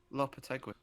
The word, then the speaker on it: Lopetegui: Kina, you're good at pronunciations. Yeah. How do you say his name? Lopetegui.